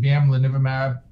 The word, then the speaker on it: bamlanivimab: The bamlanivimab. I may be one of the few folks that doesn't have a problem saying that word. No. Bamlanivimab. Bamlanivimab. You gotta say it like you're singing it.